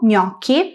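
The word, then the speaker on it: gnocchi: Escribimos g + n + o para hacer el sonido ño, que vemos en palabras como ñomo, gomo, ñoki, ñokis, conñome, apellido, raño, araña y junño junio.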